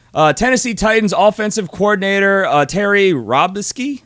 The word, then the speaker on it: Robiskie: Tennessee Titans offensive coordinator Terry Robiskie, I think is how you say it. Robiskie, that is right.